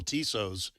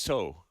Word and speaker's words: Tso: I always call it General Tso's, but how is it actually pronounced? I believe it's so.